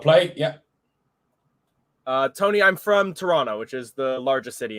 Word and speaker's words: Toronto: Tony, I'm from Toronto, which is the largest city in Canada. And you can tell I'm from there because I don't say the second T in it.